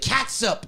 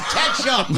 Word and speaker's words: ketchup: nobody pronounces it catsup. It's ketchup.